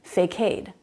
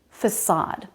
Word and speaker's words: facade: was talking about but I used this word facade but that's not how I said it I said fake aid barricade cascade decade fake aid made sense but that's not the pronunciation facade the C is the S sound that's not uncommon it's s in lots of words like circle and city facade I have two